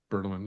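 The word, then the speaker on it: Bertelmann: Bertelman? Bertelman, yeah.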